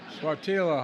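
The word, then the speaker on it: Sáttítla: I mispronounced it the first time. Swatila Highlands in Northern California.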